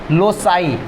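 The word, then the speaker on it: loci: ज़्यादा, जैसे लोकस है, इसका जो प्लूरल होता है उसको बोलते हैं नॉट लॉकी, लोसाई। फोकस का क्या होता है? फोसाई। जैसे फोकस है, ये आपको प्रोनाउंसिएशन के लिए बता रहे हैं क्योंकि ये सब ग्रीक वर्ड है, ये सब ग्रीक वर्ड।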